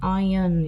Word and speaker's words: iron: 참고로 여기 R, 묵음, iron 이렇게 읽으시면 됩니다.